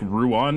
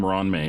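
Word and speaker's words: Ruan Mei: So I took Ronme, which her name still looks like Ruan to me, but they always pronounce her name Ronme in the game.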